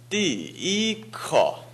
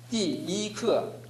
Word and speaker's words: 第一课: 띠이크 네, 이게 잘 안 되는 이유는 띠 사성입니다. 해보십시오. 띠 그 다음에 이를 발음할 때 띠 발음할 때 이 발음을 여러분은 이미 의식하고 있습니다. 그래서 띠 사성과 일성이 연결이 안 되는 것입니다. 띠를 천천히 발음하고 그 다음에 이를 천천히 발음합니다.